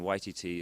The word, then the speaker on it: Waititi: And then Waititi is like Waikiki, the Hawaiian beach.